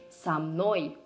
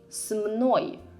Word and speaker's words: со мной: Try to say с мной. Too many consonants in a row, right? So to let it flow easier, we add a vowel.